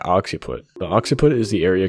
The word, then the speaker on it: occiput: hit in the occupant occupant is that how you pronounce it occiput oh okay oxy put the occiput is the